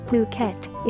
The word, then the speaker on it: Phuket: worldwide the beautiful tropical island of Phuket fortunately pronounced as Phuket is frequently and justifiably referred to as the